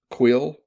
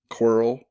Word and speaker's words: coil: The word coil is variously pronounced quill, quirl, or quarrel.